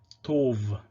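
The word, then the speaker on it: טוב: And so, for example, the word for good would have been pronounced Tov in Tiberian Hebrew. Tov. In Proto-Hebrew, maybe it was Tob, we cannot say for sure, but in Tiberian Hebrew, Tov.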